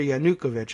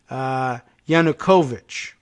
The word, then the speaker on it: Yanukovych: this again I think I've been saying Viktor Yanukovych and I am informed that it's Yanukovych I guess is the preferred pronunciation so okay Viktor Yanukovych